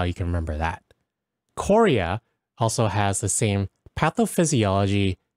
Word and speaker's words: chorea: And to remember chorea and it being related to this ballismus, think of Chorea as the country and how it kind of like spells when you pronounce it. Chorea, as in North Korea, and the president launching a ballistic missile test.